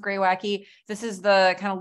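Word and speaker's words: Greywacke: New Zealand Pinot Noir from a producer called gray wacky so that's pronounced gray wacky this is the kind of local name for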